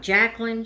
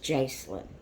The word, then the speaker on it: Jacelyn: She's not Jacqueline, she's Jacelyn.